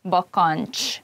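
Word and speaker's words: bakancs: at one place and when you pronounce it it's probably better to divide the word into parts like bokonch and zokni try to say it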